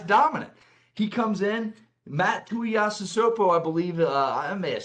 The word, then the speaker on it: Tuiasosopo: Matt Tuiasosopo, I believe, I may have said that wrong.